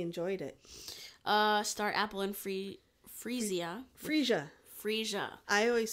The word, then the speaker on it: Freesia: But I say Freesia because we grow this and I still call it Freesia, but it's pronounced Freesia. Freesia.